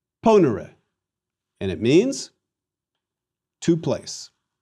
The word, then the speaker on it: ponere: And please let me remind you that it is a short E in era. Ponere.